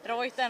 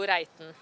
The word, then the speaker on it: Reiten: Det är Reiten, Reiten, allt annat än Reiten.